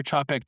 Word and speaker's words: Czapek: that says, hey, this is how you properly pronounce that French word, you dum-dum. To Xavier and to the entire CHAP-eck team, thank you for the email.